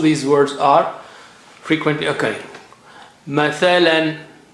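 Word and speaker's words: مثلا: Mathalan. Mathalan. Mathalan means example.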